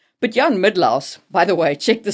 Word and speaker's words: Mydlar: But Jan Midlaus, by the way, check the spelling on that name.